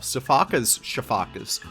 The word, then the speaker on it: sifaka: Sifakas, if you want to pronounce it the right way.